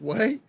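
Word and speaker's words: Huế: him to several revolutionaries who went on to attend and National Academy in way I know it looks like it says who there but it's pronounced way Vietnam he was dismissed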